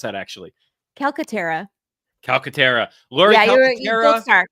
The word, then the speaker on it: Calcaterra: calcatera Catera how do you how should we pronounce that actually calcatera calcatera Lori right the first time there you